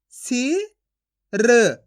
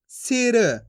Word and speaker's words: सिर: ऐसे नहीं पढ़ना आपको खींच के सिर। अगर आप खींच के पढ़ोगे सिर तो इस तरीके से बड़ी ई की मात्रा का उच्चारण हो जाएगा, जबकि अपन छोटी ई की मात्रा पढ़ रहे हैं तो कैसे पढ़ेंगे? सिर।